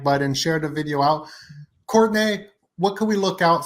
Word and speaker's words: Courtenay: It is pronounced Courtney, but it's spelled like Courtenay.